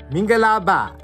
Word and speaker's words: mingalaba: Minga la ba, minga la ba. Say it with me, minga la and ba.